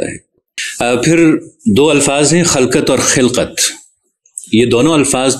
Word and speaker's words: خَلقَت: پھر دو الفاظ ہیں خلقت اور خلقت۔ یہ دونوں الفاظ درست ہیں اور دونوں عربی کے لفظ ہیں، لیکن دونوں کا مفہوم الگ ہے۔ خلقت یعنی خے پر زبر کے ساتھ کے معنی ہیں مخلوق،